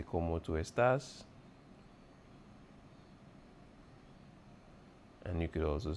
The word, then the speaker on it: estás: Como estás? Don't forget your accent on the A.